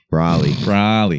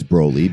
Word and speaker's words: Broly: Super Brawly movie comes Broly. out. You always say Brawly. Brawly. There's just one the L. Chicago in me. Brawly. Brawly. Cody Parker. I know it's Broly, but I can't say Broly.